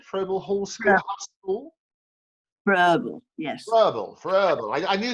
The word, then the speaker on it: Froebel: and you went to Froebel School, is that how you pronounce it? Froebel Hall School? Yeah. School? Verbal, yes.